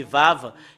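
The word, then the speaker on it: וָו: Et si vous voyez ce lettre, c'est Vav. Et le fait de le prononcer, c'est V.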